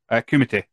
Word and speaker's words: Kumite: Kumite. Kumite. Oh, why is it, pronounced like that?